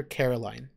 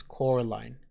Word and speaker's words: Coraline: getting her name wrong they call her Caroline she keeps saying my name's Coraline not Caroline Coraline the other thing she